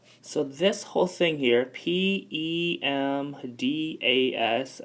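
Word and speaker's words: PEMDAS: this whole thing here PE m da s again that is pronounced pandas and this right here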